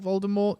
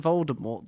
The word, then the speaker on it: Voldemort: Gotham yeah yeah about Voldemort you don't pronounce the T says there's Mon Amour